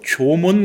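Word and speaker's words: 縄文: 문화는 뭐라고 부르냐 바로 조몬 문화라고 부릅니다 조문이 조문이라고 하는 것은 일본 발음인데 한 자로는 승문 새끼줄 승 문이 문자를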